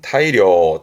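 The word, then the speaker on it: 大量: 발음은 타이료.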